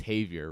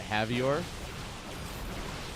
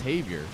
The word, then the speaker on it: Javier: it's um it's pronounced Havier and I was like huh like savior he's like yeah like savior I like huh that's